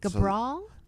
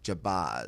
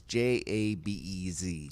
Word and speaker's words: Jabez: Gabral? Is it Gabral? No, Jabez. Oh, okay. Jabez. Okay. I pronounce it wrong, but it's Jabez.